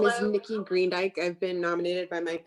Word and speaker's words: Greendyke: Hello, my name is Nikki Greendyke. I've been nominated by my parents, Gail and Spencer Greendyke. Green, like the color, D as in David, Y-K-E is how you spell it.